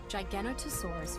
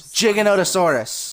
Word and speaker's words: Giganotosaurus: XP where I got triggered Helena's mispronunciation. Giganotosaurus furiosa is an enormous predator, larger even than the Tyrannosaurus. It's Giganotosaurus. I also got a drop